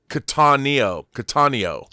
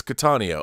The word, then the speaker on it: Cattaneo: Steve says, love you, Rob, but it's Cattaneo. It's Steve Cattaneo. See, I was thinking Italian, but it's Cattaneo. All right, Cattaneo, like katana, which keeps our Japanese theme going.